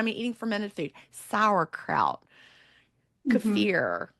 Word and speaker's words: kefir: eating fermented food sourkraut cfir or kefir however you might say it it's actually cafir I think I've looked at how to say it on YouTube most people say it wrong but um things like